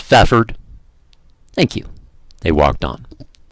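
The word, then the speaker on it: Fafhrd: at the silver get excuse me but how do exactly do you pronounce that faff herd just fathered thank you they walked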